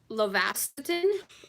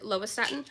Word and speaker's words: lovastatin: are here I take lovastatin or lovastatin I think that's how you pronounce it lovastatin for blood pressure I